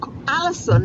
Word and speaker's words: allicin: It's Allison, and it's spelled ALLICIN.